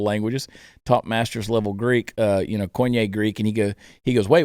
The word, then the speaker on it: Koine: And he said, well, it's Kenny Greek. And I said, no, it's Koine Greek.